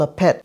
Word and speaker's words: laphet: one is a traditional one and it's called a pet la pet is spelled l-a-p-h-e-t and what it is it's fermented